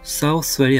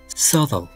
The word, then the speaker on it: Southwell: 이것도 발음에 주의하세요. Southwell이 아니고 Southall, 이 주류 발음입니다. 1646년에 찰스는 Southall 대성당, Southall Minster 인근의 주교 관저에서 스코틀랜드 군대에 자발적으로 항복했습니다.